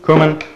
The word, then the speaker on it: cumin: Comino or cumin. English pronunciation, cumin. Spanish, comino.